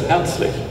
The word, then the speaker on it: Herzlich: It means, if you pronounce it correctly in German, it says Herzlich, something that comes from your heart.